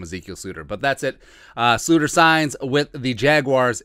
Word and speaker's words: Sloter: Sluter signs with the Jaguars. Remember, it's a Dutch pronunciation.